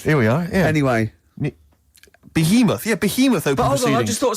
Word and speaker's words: Behemoth: I can't pronounce this one. Oh, let's have a look. That's good. Bethlehem or something. Bethlehem. Baoth. Behemoth.